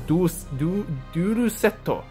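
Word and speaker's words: デュエルセット: That's what it says in Japanese, Duel Setto, which is how you pronounce it in Japanese, but basically it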